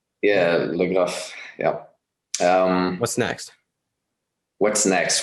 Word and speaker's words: Legraf: Legraf? yeah, Legraf.